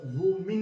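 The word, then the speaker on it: women: जब प्लूरल जब होता है ना इसका प्रोनाउंसिएशन तो वुमेन होता है, क्या होता है?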